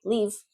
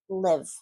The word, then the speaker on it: live: Instead of saying live, you're pronouncing that short I like an E. And so what are you saying? Well, you're saying leave. Bye-bye, leave. I leave in Madrid. It makes no sense at all. I live in Madrid. Live. Live. Not leave.